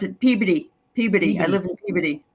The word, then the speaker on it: Peabody: because um you know that's but it's they pronounce it Peabody Peabody I live in Peabody yeah I know